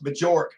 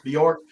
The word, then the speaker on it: Bjork: but that a m story Jimmy I still think uh no matter what happens and I'm gonna call him Ross majorque because of this instead of pronouncing it correctly Ross Bjork Ross Bjork does he